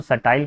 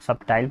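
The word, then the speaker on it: subtle: और सट्टेल, इसमें ध्यान रखिए बी को नहीं पढ़ा जाता, इसमें बी का प्रोनाउंसिएशन नहीं किया जाता है, इसको सटाइल पढ़ा जाता है, बच्चे लोग सबटाइल पढ़ते हैं।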